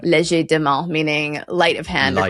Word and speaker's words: legerdemain: And we pronounce it in this sort of obnoxiously English way. Legerdemain.